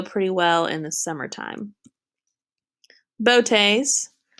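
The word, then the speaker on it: Boötes: Botes, so that's an umlaut there, so let's pronounce Botes.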